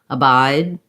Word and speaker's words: abide: it sounds a little more like i'm saying a bite with a t abide with the d i'm holding my vowel longer one other comment